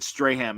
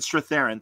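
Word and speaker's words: Strathairn: Uh David Straham, and I'm saying his name wrong, but the David Straththerren David Straththerren, thank you.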